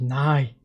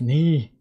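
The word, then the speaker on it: 你: It's not nigh. It's knee. Now I need to just say it's not nigh, it's me. As in me. Oh, my mistake. Knee is pronounced like knee.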